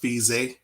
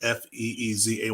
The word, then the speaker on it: Fezia: So, first, last name is pronounced Fezia, like Feezay, like Fezia.